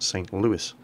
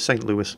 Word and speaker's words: St. Louis: the uh city of St Louis Missouri and that's how they pronounce It in America so that's how we're going to pronounce it here it's their ship it's